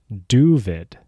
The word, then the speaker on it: Doooovid: David from the YouTube channel, Doooovid. Is that how to properly pronounce that? Yeah, Doooovid with 4 O's. I'm here in Southfield, Michigan, civil engineer. Doooovid is the Yiddish of David.